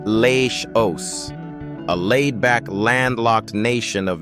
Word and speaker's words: Laos: Number five brings us to Laos, pronounced Le O, a laid-back landlocked nation of misty mountains, winding rivers, and gentle Buddhist calm.